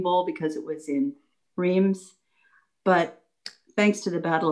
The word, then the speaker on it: Reims: were having their downtime in Reims, or Reims, as we pronounce it in France, they decided that the projection was, this war is coming to an end, we'll all be going home.